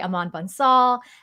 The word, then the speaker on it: Aman Bansal: I have with me today Aman Bansal and Vivek Sitharaman.